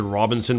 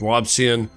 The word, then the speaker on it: Robison: I want to pronounce it Robinson, but it's not, it's Robson.